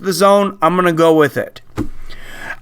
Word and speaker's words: DAZN: it spelled the AZN pronounced they claim it's pronounced the zone I'm gonna go with it I hope this